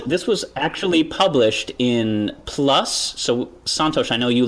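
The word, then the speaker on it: PLOS: they did and this was actually published in plus so Santos I know you love plus one this is a plus pathogens which is an Open Access Journal right we should pronounce it properly it's plus P oos plus now they did a study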